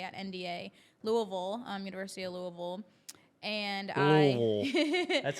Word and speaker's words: Louisville: And then from there, I actually was supposed to go to a D1 school, D1A at NDA, Louisville, University of Louisville.